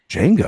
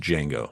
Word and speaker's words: Django: Just Django. Oh, just Django. Oh, okay. The D is silent, my friend.